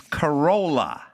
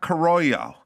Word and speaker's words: Carolla: My last name is Carolla, not Carollo, or Carolla. It's Carolla.